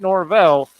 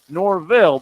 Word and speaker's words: Norvelle: Not Norvelle, Norville, but I've known Lee a long time.